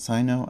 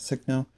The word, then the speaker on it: Signal: I know some people pronounce it Sino. I pronounce it Signal.